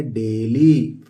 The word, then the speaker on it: daily: ए आईई एल वाई इसको डेली नहीं पढ़ेंगे इसको पढ़ेंगे डेली डी ए आई आप कहेंगे ड हो गया नहीं डेली डी ए ए है आई साइलेंट है तो यह क्या हो